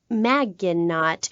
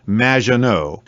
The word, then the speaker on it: Maginot: Claude Maginot, welcome to the show. Thanks, Amy. However, you have mispronounced my name. It's Madge, which rhymes with badge. As in duh, and no as in more than you. Maginot.